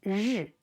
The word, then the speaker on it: 日: Maybe you find this 日 is hard to pronounce. Actually, just, rolled up your tongue, as in the English word pleasure, that 日 sound.